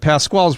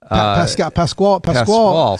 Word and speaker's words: Pascal: But Pasquale's wager is Pascal. Is somebody Pascal. It's spelled so similar, right? Just a U out.